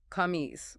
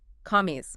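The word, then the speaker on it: قميص: No, that's an English K. You are hitting the roof of your mouth. Listen to the depth of it. Ca. Commies. Oh, I hear it. It's deeper. It's almost clicking in the back.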